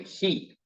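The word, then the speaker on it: היא: that's your pronoun I and he that's the way you pronounce that last one right hand column he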